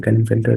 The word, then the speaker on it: Klinefelter: क्लाइनफेल्टर syndrome, there में बी the different pronunciation, but मेरा जो जिसमें मैं सेट हूँ तो मैं इसको क्लाइनफेल्टर या क्लाइनफेल्टर सिंड्रोम भी बोलते हैं.